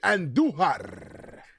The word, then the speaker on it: Andujar: Roll your R's when you say Andujar.